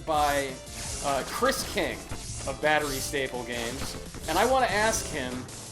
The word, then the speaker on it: Batterystaple: easy thing to pronounce no it's battery staple I keep wanting to say battery Spike it's battery staple games this is their this